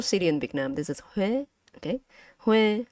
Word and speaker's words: Huế: This is Huế, okay? Huế. So this is with an accent mark, it become Huế, okay?